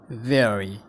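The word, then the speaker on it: worry: वेरी, यो बरी होइन वेरी हो, वेरी। वेरी।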